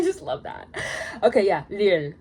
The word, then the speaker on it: 리을: Okay, yeah, 리을. It's very fun. I love pronouncing it. It's like a mixture between L and R. So yeah, 리을.